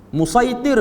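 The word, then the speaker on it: مصيطر: Musaitir tu dia mari pada perkataan satara, cuma dia baca dengan lahjah Quraisy, sin dia jadi sad, musaitir, tapi ejaan dia lah dengan sin, satara, yang bermaksud tulis, lukis, bersih, ataupun pegang, ataupun pantau.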